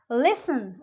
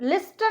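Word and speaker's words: listen: लिसन, लिस्टन नहीं बोलेंगे उसको हम.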